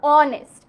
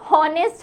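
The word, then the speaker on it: honest: না same গোস ফর অনেস্ট অনেস্ট এর ক্ষেত্রেও কিন্তু হ উচ্চারণ হয় না হ উচ্চারণ হলে সেটা কিন্তু হনেস্ট হতো হনেস্ট না হওয়ার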